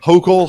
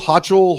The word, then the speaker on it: Hochul: new york i do not know how to pronounce it yeah neither do i that's why i haven't uh hochul hotchal hulkel exactly h-o-c-h-u-l it sounds like she's choking